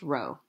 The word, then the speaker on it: rho: are stated like this this Greek letter here is not a P it's pronounced Rho Rho and it represents